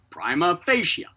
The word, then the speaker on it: prima facie: comment primation normally pronounced prima with a long i as in pi followed by a short a and then fascia with